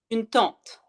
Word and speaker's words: tente: Une tente like your aunt is T A N T I. Une tente when you go camping T E N T I.